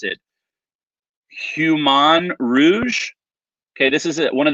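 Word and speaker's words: Humagne Rouge: Jennifer letting me know the H is silent, so it's Human Rouge.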